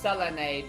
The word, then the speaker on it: Selene: Actually, it's pronounced Selene because it's Greek and the vowels make the same sound.